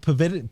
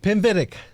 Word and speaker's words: Pinvidic: bullseye guy Brent with Brent Pavitt pinvidic that's got it yeah I always try